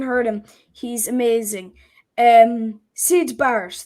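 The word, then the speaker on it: Syd Barrett: him he's amazing um seid bars that's it I thought it was Sid bars but I didn't want to say it in case it was wrong Sid bars I would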